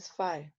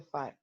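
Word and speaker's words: phi: the magnetic flux so for pronounced fire yes this side is pronounced as a fire so the origin of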